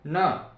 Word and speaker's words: ण: इसे अणा भी कहते हैं, लेकिन इसका शुद्ध उच्चारण होगा न।